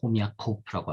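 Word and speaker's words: Хомяков: 그 중에서 가장 뭐 대표적인 사람으로서는 알렉세이 호미아코프라고 할 수 있어요. 액센트 제일 마지막에 들어옵니다. 그래서는 흐미코프라고서는 그렇게 뭐 러시아로서는 발음될 겁니다.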